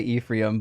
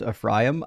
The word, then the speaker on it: Ephraim: In America we say Ephraim, but it's actually pronounced Ephraim.